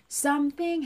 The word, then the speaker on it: something: 그 순간에 something happened to my heart. 가죠. something 할 때 th 발음 something. 자, 발음 something이 아니라 something. th는 something.